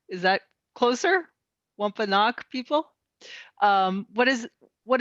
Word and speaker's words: Wampanoag: relationship of the and i also notice i'm pronouncing this wrong so let's see if i can do a better job the wampa knock is that closer wampanoag people um what is what is their relationship